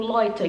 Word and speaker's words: Leute: e alguma coisa como por exemplo loita que é pessoas né É é escrito leute mas se fala tipo loita o J né que